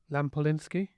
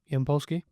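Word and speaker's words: Yampolskiy: Lampolinski. Yampolski.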